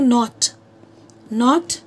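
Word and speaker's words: knotty: अब जैसे मैं आपको बोलती हूँ नॉट नॉटी, है ना, तो यहाँ पे किसका हो गया, न। अब ये के नहीं है, क्योंकि के साइलेंट है, तो ये दोनों किसके अलिट्रेशन हो गए, अलिट्रेशन ऑफ एन।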